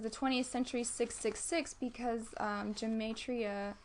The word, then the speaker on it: gematria: And so I kind of put this picture, and it says the 20th century 666 because gematria, how do you say it?